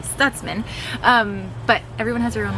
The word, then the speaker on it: Stutzman: Everyone says our last name Stutzman, but it's actually Stutzman.